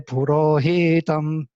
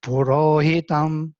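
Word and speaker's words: पुरोहितम्: So they make short syllables long. For example, they read in this way. Listen. Agnimihile purohitam. Not purohitam. It should be short. Purohitam. But you cannot make high pitch of svarita only short.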